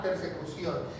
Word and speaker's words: persecución: con acento en la O, persecución.